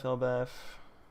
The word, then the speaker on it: Elbaf: Finally, Elbaf. Elbaf. Oh, yeah. We We've seen this before. I think the proper way to say it is with an F because Elbaf backwards is fable and you say fable with an F.